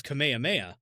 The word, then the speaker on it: Kamehameha: I always thought it was Kamehameha. The King Kamehameha is the name of the king. When Goku does it, it's a Kamehameha Okay. because Japanese. I gotcha.